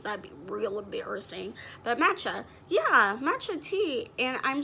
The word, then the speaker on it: matcha: a quick video just to make sure i'm pronouncing it right because that'd be real embarrassing but matcha yeah matcha tea and i'm just like i